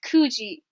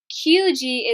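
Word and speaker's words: 九時: Now, if you remember from that chart, 9 is Q, but you can't say Q with time. It's kuji, kuji, kuji. QG is wrong. So again, QG is wrong, Kuji is right.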